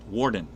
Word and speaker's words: Borden: my name is it's warden okay it's pronounced with an a but spelled with an o and i get picked on because i say it's warden like a prison warden i'm telling people how